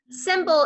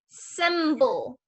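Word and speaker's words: cymbal: they strike and makes a high pitch sound symbol is spelled c as in cat y m as in mom b a l symbol symbol the c usually makes a k sound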